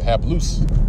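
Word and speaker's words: ἁπλοῦς: hapless all right have loose that's how you pronounce it half loose okay which means uh it says simple single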